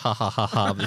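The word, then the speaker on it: jajaja: are fully aware that it is pronounced hahahaha spelled with a J we we don't need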